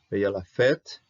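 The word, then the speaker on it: פ: happening um okay fet the P does not have a do so you can pronounce as an F fet okay and then there's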